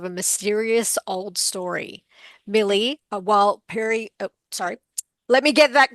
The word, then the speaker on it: Warlpiri: Millie, Warlpiri, let me get that correct. I feel terrible. I just learnt how to say this lovely name. Warlpiri teenager.